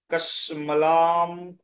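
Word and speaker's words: কশ্মলম্: কসমলাম ইদম, কসমলাম ইদম, এই ময় রশ্মিকার রয়েছে, রশ্মিটাকে আপনি একটুখানি ধীরে ধরে খন্ড করে উচ্চারণ করুন।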